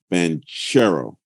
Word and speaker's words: Banchero: Like I think I need to get it confirmed, but all right, the security guard said Paolo told him it's Banchero, which I think sounds cooler.